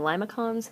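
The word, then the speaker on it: limaçon: And these are I believe it's pronounced limoson but the way I actually pronounce them is I call them liacons because to me they look like lima beans.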